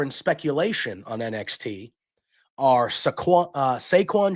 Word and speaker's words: Saquon: I think it's Saquon. It's spelled like Saquon Barkley, so I'm calling him Saquon.